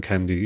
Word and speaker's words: Kandy: So our last big monarchy was in Kandy, which is the center of the country. And then now, I'm not sure if people in Kandy. It's Kandy with Kandy spelled the English way, but with a K.